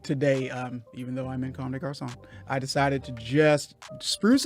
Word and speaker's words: Comme des Garçons: But today, even though I'm in Comme des Garçons, I decided to just spruce it up a little bit because we got a fashion I mogul.